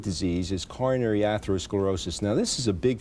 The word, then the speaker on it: atherosclerosis: Well, how does atherosclerosis, is that the way you pronounce it? Yes, it is.